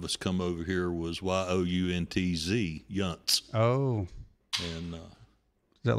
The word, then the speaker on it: Yount: And it's spelled Yount, but it's like punt, but spelled different.